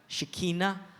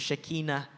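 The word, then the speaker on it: Shekhinah: Scuropyaw sa Old Testament shikina or more popular saong pangalanon sa Pilipinas Shikina ba ang original ng pronunciation is Shekina that's a Hebrew word by the way means the glory the brilliance of God.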